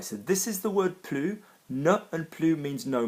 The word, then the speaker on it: plus: Plus de, pronounced differently, means more of something. And plus with an adjective is pronounced plus unless there's a vowel after it, an open mouth, in which case you will say plus.